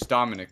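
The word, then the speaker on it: Daminak: Yeah, so it's, my name is Dominic, but it's spelled Dominic with an A and a K at the end. Like, D-A-M-I-N-A-K, because it's transcription from Belarusian language.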